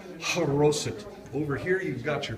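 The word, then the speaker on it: charoset: see on the recipes and whoops Lincoln spilled chara scent but it's actually pronounced corrosive over here you've got your pita bread and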